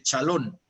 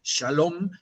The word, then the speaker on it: shalom: aparece y te dice chalón, que es su manera de pronunciar shalom, es chalón, ¿no?